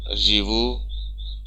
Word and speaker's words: живу: So for conjugation, я живу, я живу, я живу. Stress is on u.